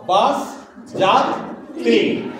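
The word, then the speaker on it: বাসযাত্রী: আমরা এই শব্দটা উচ্চারণ করার সময় দীর্ঘইকারেরও উচ্চারণটা দীর্ঘ করি না, বাংলায় হ্রস্ব করি। তাহলে এটার একেবারে সঠিক হবে বাস যাত্রী।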